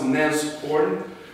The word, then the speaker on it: Nashorn: It's pronounced Nashorn because it's the German word from the rhinoceros. Is it correct? Yes, it's actually this guy. So this is, yeah. So this is the Nashorn, and so first of